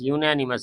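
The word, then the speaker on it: unanimous: was accepted by यूनेनिमस यूनेनिमस यू से उच्चारण शुरू होगा इसलिए लिए लगेगा ऐसे देखने में लगता है ज्ञान लेकिन नहीं है ना यानी प्रस्ताव जो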